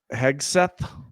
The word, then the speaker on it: Hegseth: Right, the far right, that's Pete Hegseth. Is that how you pronounce it? Yep. I think it's Hegseth.